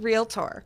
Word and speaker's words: realtor: realtor I said that people want to add another syllable but real tour realtor now ami where do